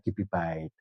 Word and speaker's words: kibibyte: Jadi kalau ada I itu berarti berbasis biner. Bacanya kalau kilobyte ya kibibyte. Nanti 1 megabyte berapa?